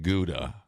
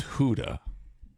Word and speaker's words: Gouda: Gouda is not Gouda, which bothers me. Oh. Because I don't like change. It's Huda.